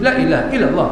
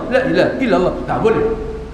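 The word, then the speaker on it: لا إله إلا الله: illa ha illallah duduk Lailahaillallah Lailahaillallah Lailahaillallah Lailahaillallah lamnya harus panjang di Kalteng minta duit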